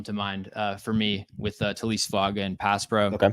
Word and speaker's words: Taliese: See, and now you say Talise Fuaga, and the fact that I said Taliese is, I think it goes down as the funniest mispronunciation of it, because you're right, it's definitely not that.